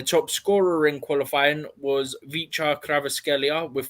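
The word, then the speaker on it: Khvicha: Yeah, I think the first name's Vicha, isn't it? It's like a silent K, and there's like Vicha Kvaratskhelia. Yeah, I think the V is quiet in the second one, but it's something like that.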